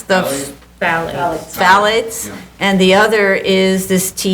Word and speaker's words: phthalate: How would I pronounce Phthalate?